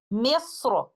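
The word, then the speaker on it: مصر: So upon stopping on this word with tafkhim of letter Ra, we will recite it like this. Misra.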